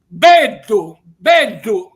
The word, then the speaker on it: beddu: Beddu lo pronuncio con la B doppia, perché in siciliano è così, la B iniziale è sempre doppia.